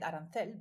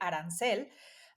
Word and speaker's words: arancel: Like in Mexico, we pronounce it a bit different. But no, it's not a food recipe. Actually, arancel, well, Oscar might say arancel, but here in Mexico,